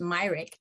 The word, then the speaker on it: Myrick: um as karis myrick everyone's pronouncing her name merrick it's karis myrick um had stated care